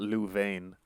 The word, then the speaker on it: Louvain: It's spelled Louvain, but it's in Belgium, so yeah, Louvain, where he got his PhD in archaeology, Oriental history, and Semitic languages.